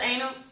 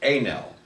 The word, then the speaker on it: Anel: Mr. Anal, the floor is yours. It's pronounced Anel. It's French.